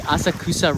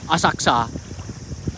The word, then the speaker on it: Asakusa: For the people who always correct me that I say Asakusa wrong. I say each syllable instead of Asakusa.